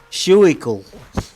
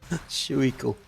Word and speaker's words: Schuylkill: Oh, let me pronounce this now. Schuylkill. Is that for real, man? Are you trolling me? Is that a real name of a river? Schuylkill.